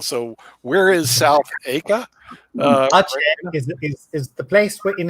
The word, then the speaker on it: Aceh: Asia, not Asia. It is Aceh.